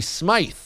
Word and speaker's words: Smythe: sorted this out earlier I thought they were both pronounced Smith I didn't realize Patty Smythe with the why was pronounced that way we all got it